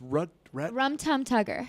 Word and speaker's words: Rum Tum Tugger: Now, how do you pronounce the other cat's name? It's Rum Tum Tugger.